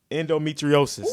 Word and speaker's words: endometriosis: Endometriosis.